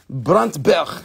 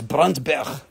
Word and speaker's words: Brandberg: amethyst we are having some brandberg bruntberg that's how you say it it's bruntberg it means burnt mountain yep that's because when the sun is coming down it looks burnt yeah okey-dokey which one